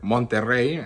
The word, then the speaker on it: Monterrey: So I went to Monterrey, or Monterrey, actually, that's how you say it, which is the largest city in Nuevo León.